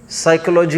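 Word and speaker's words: psychology: लगा ही है जैसे साइकोलॉजी वर्ड है। क्या है? उसका स्पेलिंग क्या है? पी एस वाई P silent है।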